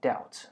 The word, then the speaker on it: doubt: 讨债就是这么麻烦。讨债者呢？先讲放高利贷。放高利贷的机构呢，英文叫 loan sharks，对，loan shark。然后讨债的人就叫 debt collector，ECTOR，对。这个字很特别，它是债务的意思， The B is silent，它的 B 是不发音，所以变成是 debt，好 debt collector 这个字呢就有点像我们说的怀疑，怀疑是 doubt，对不对？Again the B is also silent， I doubt，